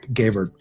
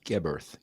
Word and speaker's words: Geberth: pleasure in my pronunciation my name is gber GB Earth gber okay well see there's my first mistake no no I just that I don't want it like I gave birth or anything you know it's G